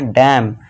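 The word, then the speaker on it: damn: यहाँ पे फिर से एन है लास्ट में, तो इसे क्या पढ़ेंगे, डैम, ठीक है दोस्तों।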